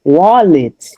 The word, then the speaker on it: wallet: And then when you have wallet, because the stress goes on the first syllable, you say wa and then the the second one is reduced. So that's why you say wallet.